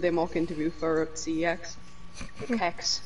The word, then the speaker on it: CeX: Kex, whatever you want to call it. CEX. And he won the tutor and said it was like pronounced sex.